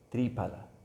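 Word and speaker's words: Triphala: en sánscrito se se dice pa Okay pa tripala Eso después el en el hindi se dice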